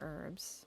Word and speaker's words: herb: No, we don't pronounce the uh the H in herb.